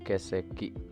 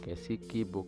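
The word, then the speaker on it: 欠席: Jadi keseki, bukan kesiki, kesekinya nggak pendek dan juga nggak keseki.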